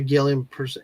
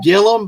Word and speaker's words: Gillum: your name at Gilliam it's it's Gillum but it's pronounced Gilliam so I mean it's it's spelled gilam but it's pronounced Gillum so I was laughing